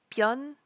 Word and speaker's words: Byun: Now you may notice that Byun and Hyun are both spelled with a U, but it's actually that EO sound that we talked about in Kim Min-seok. So it's Hyun, Byun, Byun Baekhyun.